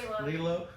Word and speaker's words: Lilo: Lilo. I was I mispronounced it before.